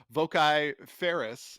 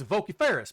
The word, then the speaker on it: vociferous: I thought we could pronounce it voci ferris if we're doing hiatus. It's vociferous, man.